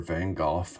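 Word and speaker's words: Van Gogh: a huge fan of Van Go's work or vanoff however you want to pronounce it so here drum roll please is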